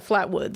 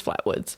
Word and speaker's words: Flatwoods: be talking about the Flatwoods Monster. Yes. So, the or exc Yeah, the Flatwoods. Sorry, I thought I didn't know if it was Flatwood or Flatwoods. It's Flatwoods.